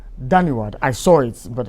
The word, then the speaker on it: Dhanyawad: I was struggling to find, the Indian word for thank you, but Dhanyawad. Dhanyawad. I saw it, but how to pronounce it in Indian was becoming a bit of a challenge for me.